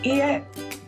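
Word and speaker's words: いいえ: And it's pronounced just like hi. On the contrary, how to say no is ie. Ie.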